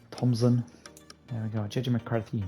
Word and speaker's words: Thompson: Connor Thompson as well with a silent p or none Thompson there we go JJ